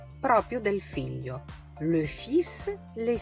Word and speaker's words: fils: Le fils, les fils. Fa un po' eccezione, non pronuncio neanche la L, per non confonderla con la parola le fil, che significa il filo.